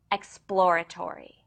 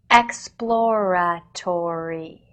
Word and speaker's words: exploratory: it consists of aive P sound immediately followed by L and R sounds please pay close attention to how I use my lips teeth Jaws tongue and facial muscles to say the word exploratory exploratory exploratory exploratory explor